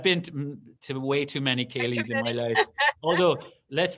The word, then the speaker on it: Céilí: So when you see C, people tend to, like the Boston Celtics, they got it wrong. There is no soft C in Ireland. The C is hard. So it's Boston Celtics, and Céilí is the word.